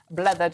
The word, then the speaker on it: Blethered: Joining us this morning to go through the papers properly is broadcaster and host of Blethered. Am I saying that correctly? You're saying it correctly.